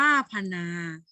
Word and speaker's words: ผนา: อ่าน แบบ เรียง คำ คำ ว่า ผนา นี่ ปะ ภา น เป็น พยัญชนะ ต้น you อักษร ต่ำ นอ หนู ๆ หนู ก็ เป็น พยัญชนะ ต้น เป็น อักษร ต่ำ เดี่ยว แล้ว ก็ บวก ด้วย สระ อะ อ่าน ว่า พะ นา นี่ คือ คำ อ่าน หรือ อ่าน ว่า พะ